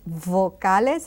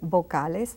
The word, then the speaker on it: vocales: See, I mentioned vocales. I make a strong V, small V. You can say vocales. That's perfectly all right.